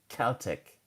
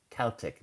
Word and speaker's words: Celtic: I would go with the K. Celtic, Celtic, not Celtic.